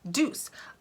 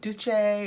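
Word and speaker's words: Doucce: ultra precision eyeliner and i looked this up because i would get these in boxes and i was never sure how to say it and it's d-o-u-c-c-e which i wanted to make italian like duche or i always i wanted to make it fancier than it was and when i looked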